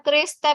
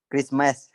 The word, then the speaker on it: Christmas: I remember one Christmas when my dog Marpay Kristem yang benar bacanya, Bang. Christmas. Chris.